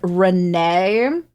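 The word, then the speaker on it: Renne: There is Ren, who came first, pronounced like Ren, as you would. And then there is Renee.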